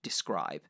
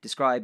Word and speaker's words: DSCRYB: We have just partnered up with a lovely service called Describe. Describe is spelled DSCRYB because they're cool.